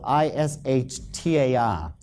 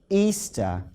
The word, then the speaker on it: Ishtar: But if you check the original transliteration, the Babylonian one, it is still pronounced Easter to this very day.